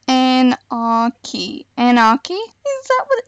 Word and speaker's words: Anarchy: Apparently it's Anarchy. Anarchy? Is that what it's been the whole time? So welcome back to Anarchy Prison Server.